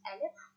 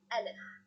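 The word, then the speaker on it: ألف: So first one, and letter alif. Alif, the pronunciation of alif is a. It's same like fatha.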